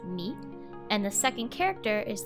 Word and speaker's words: 見: word means to see the first kanji is pronounced meet and the second character is the hiragana for